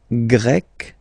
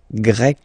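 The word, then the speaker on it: grecque: and then you've got GRE masculine form GRE feminine form you write them differently but then if you listen carefully gre gre you pronounce them the same way okay Portugal portug portuges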